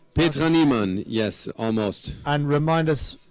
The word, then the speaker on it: Petra Niemann: Am I pronouncing that correctly? Petra Niemann, yes, almost.